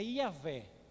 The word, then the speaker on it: Yahvé: Então quando vocês ouvem falar Jeová, no hebraico não tem uma pronúncia clara, mas o mais próximo é Yahvé.